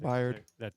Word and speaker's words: Byard: or Byard. I think Byard. that's how you pronounce his name.